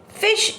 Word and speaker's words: phishing: Fish is pronounced just like it is spelled, which is to say the word fish.